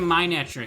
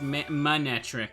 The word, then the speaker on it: Manectric: the later parts saying why is he keep saying my neck it's pronounced manectric and I'm like hmm